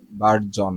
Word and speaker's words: burgeon: Normally তো বার্জিয়নই লাগতেছে। বার্জন, বার্জন, জিয়ন বলতেছি কিন্তু এটা কি বার্জন, বার্জন, বার্জন।